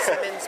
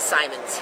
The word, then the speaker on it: Simons: Most people call him Simmons, but he is Simons.